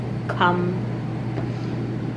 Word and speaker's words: come: And our last word is come. Come. Oh. Again, our E is silent on the end. So we have k. Come. Great job practicing.